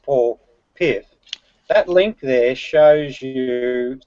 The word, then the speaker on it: Paul Piff: I know his name is pronounced Paul Piff.